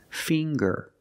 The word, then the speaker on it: finger: with ginger very good and finger finger we see the nasal sound plus the hard G the G fing GG finger I have 10 fingers